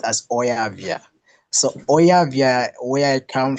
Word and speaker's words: Oyavia: By the way, it's pronounced as Oyavia.